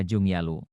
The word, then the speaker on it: Junggaluh: ejaan China yaitu sugalo kata sugalu menurut mereka harus dibaca Jung yalo inilah yang menjadi masalah